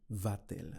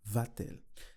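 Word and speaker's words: va-t-elle: with the verb V Ela in the VIN turns to vatel and this is to Aid pronunciation so I wouldn't say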